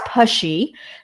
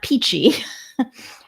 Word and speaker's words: Pitchy: He mentioned that the woman he spoke to, Jeanie Pitchy, which she clarified is correctly pronounced as Pushy, not Peachy, seemed very nice and convinced him that we would enjoy living in her house.